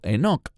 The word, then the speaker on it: Enoch: Eso se remonta al libro de Génesis, donde se nos habla de Hanoch o Enoch, según como pronuncie su nombre. En hebreo es Hanoch.